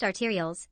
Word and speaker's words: arterioles: blood to the heart except the pulmonary vein pronounced arterioles they are a small branch of an artery